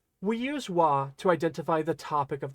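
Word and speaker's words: は: Notice Wah looks like ha, but it's pronounced wah, and it's only ever pronounced wah when it's used as a particle.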